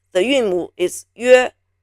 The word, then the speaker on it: 约: It is pronounced 约, 约, 约, 约, 约.